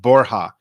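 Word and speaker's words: Borja: like it would and his name's pronounced borha it is pronounced as H in Spanish okay cool I was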